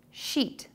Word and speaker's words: sheet: The word should be pronounced sheet. To correct the error, do these two things. Number one, pull your lips into a tense smile. And number two, make the vowel sound longer.